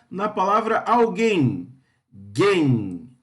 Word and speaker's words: alguém: Qual que é a sílaba tônica na palavra alguém?